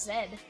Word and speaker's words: Z: What is also weird is the that the British pronounce Z as zed.